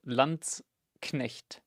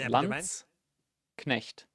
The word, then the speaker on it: Landsknecht: It's L-A-N-D-S for lands, like land. And then Knecht, Landsknecht. It's like pronounced T-S, Landsknecht.